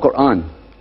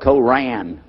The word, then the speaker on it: Quran: it's when you introduce the Quran it's called Quran now in Texas a lot of people mispronounce it they call it Coran but it's Oran but regardless of what you